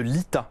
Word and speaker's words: LITA: Vous êtes la fondatrice de l'ITA, ça s'écrit L-I-T-A.